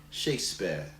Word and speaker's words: Shakespeare: way the words pronounce we just don't say the r sound so it's shakespeare shakespeare shakespeare are these three sounds